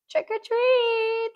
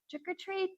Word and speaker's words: trick-or-treat: Okay, next we have trickor treat. Okay, be careful with the pronunciation here. Right. Trickor treat.